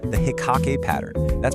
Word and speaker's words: Hikkake: It's called the hikake pattern that's pronounced hikake.